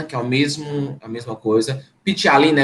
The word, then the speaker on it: ptialina: mesmo a mesma coisa pitty alina é pt tá é mudo pt e a l i n a pitty alina onde a